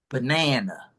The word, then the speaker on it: banana: We agree the middle A is the strongest. We'll give it a 2. How about the third A? 2, 1, or 0? Banana. Uh, You got three choices: 2, 1, or 0. 2, It's a 1.